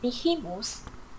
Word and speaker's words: behemoth: commerce giants and behemoths.